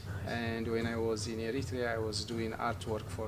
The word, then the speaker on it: Eritrea: Yeah, I'm from Eritrea. Eritrea. Yeah. Eritrea. I gotta make sure I pronounce that correctly.